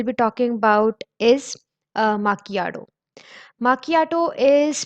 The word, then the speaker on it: macchiato: Macchiato is pronounced as macchiato.